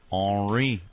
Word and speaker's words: Henri: His name's really Ernie, but he's French, so he wants to pronounce Henri or something like that. His name is all scrambled here. Henri.